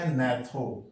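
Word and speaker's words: gnath: है मतलब जज जबड़ा गथ लिखे हैं लेकिन याद रहे जी साइलेंट है पढ़ते नेथ मतलब जज और एक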